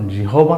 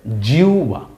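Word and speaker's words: জিহ্বা: জি হবা নাকি কিন্তু উচ্চারণ জিহবা না কিন্তু উচ্চারণ হবে জিউবা ভালো করে মনে রাখেন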